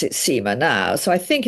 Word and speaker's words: Seymour: um well I think the the SEMA family pronounce it SEMA now so I think it's SEMA but you